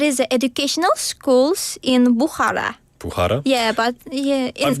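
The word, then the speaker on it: Bukhara: But yeah I've noticed that I guess sorry in Usbekistan if there's a KH like in your name it you don't pronounce the K. It's almost like a Yeah. Like Bhara and your name is Sioaton.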